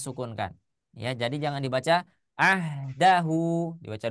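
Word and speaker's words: عهده: Tidak dibaca ahdahu, tidak juga dibaca ahdahu. Tidak, tapi hanya disukunkan. Ya, hanya disukunkan. Jadi bacanya ahdah seperti itu.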